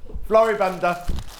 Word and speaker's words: Floribunda: Floribunda.